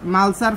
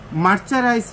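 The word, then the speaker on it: mercerize: কাপড়ের ফেব্রিক্সের ব্যবসা করেন, মার্চারাইজ শব্দটাই উচ্চারণ করতে সে নেই, মালসার ফেব্রিক্স বলেন ফকিন্নির মতো। মার্চারাইজ ফেব্রিক্স, মার্চারাইজড ফেব্রিক্স।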